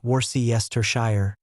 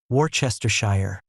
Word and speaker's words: Worcestershire: If you try to say every part Worcestershire, you get four syllables. Some people add even more. Worcestershire, five syllables. The real pronunciation is Worcestershire, two syllables from 14 letters.